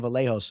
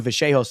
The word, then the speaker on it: Vallejos: With the little that that's like the real authentic way. I guess the American way would be like Kevin Vallejos. But I try to do some homework and and get my pronunciation even sharper and people are making fun of me. But uh I'm gonna I'm gonna stick with Kevin Vehos until I'm watching on